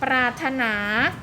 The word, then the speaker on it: ปรารถนา: ไม่ ได้ ออก เสียง ปรารถนา ก็ รอ เรือ อีก ที่ ไม่ ออก เสียง คำ ว่า พราหมณ์ นะ